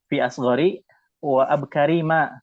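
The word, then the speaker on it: في أصغرِ وأبكرِ ما: Ya, nah yang benar bacanya fi asghari ya. Fi asghari wa abkari ma, karena dia mudhof ilaihnya ke ma ya. Fi asghari wa abkari ma, ya karena dia mudhof ilaih.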